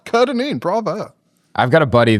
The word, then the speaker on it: Kerr-Dineen: You just nailed it, Kyle. Kerr-Dineen. If you asked my dad, it's the Kerr that's the issue. He likes to pronounce it Kerr-Dineen, even though it's not pronounced that way. It just sounds cooler that way. But you nailed it.